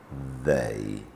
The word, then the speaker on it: they: The E and Y at the end make the long sound A, they.